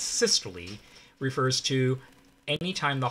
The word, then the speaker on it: systole: systole all right so you pronounce the e at the end of this or the long e sound so it's systole refers to any time